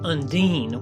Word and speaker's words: Undine: with it mentally, and I can't seem to escape Undine, though it is probably more common to pronounce it Undine, which at least is how Audrey Hepburn pronounced it in the 50s.